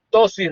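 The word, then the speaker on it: ptosis: Eso se llama tosis renal, se escribe PTO, tosis renal.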